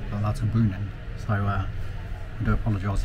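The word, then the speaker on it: Lauterbrunnen: to L Bren well I've just found out that the pronunciation is l brunin l brunin so uh I do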